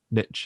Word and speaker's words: niche: always talking about like finding your niche and things or niche as some people pronounce it yeah um like